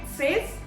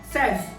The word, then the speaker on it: says: Is it says? No. It's pronounced as says.